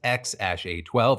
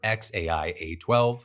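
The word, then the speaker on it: X Æ A-12: Then you've got Strider and Azure, and then this name, which depending on whether you ask Grimes or Musk, is either pronounced X-A12 or XAI-A12, followed by Exa Dark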